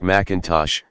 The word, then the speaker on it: M'Intosh: had inherited the land the defendant William m'intosh pronounced McIntosh subsequently obtained a land patent according to the